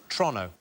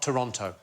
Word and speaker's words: Toronto: than it should be so it's Toronto not Toronto OH is it torontoon Toronto Toronto like as quick as you possibly can like it's a crime to say it Toronto I love Toronto there